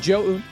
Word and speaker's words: Zoun: But yes, Zoun is correct pronunciation.